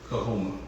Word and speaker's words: Kuihuma: Like, for example, Kuihuma. Kuihuma. Y'all ever heard that before? Teach it to us. We say it like this. Kahoma.